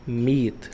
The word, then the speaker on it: meat: Não pronuncia esse A. É A junto. Geralmente vai ter um som de I. Não é sempre, mas é a maioria das vezes.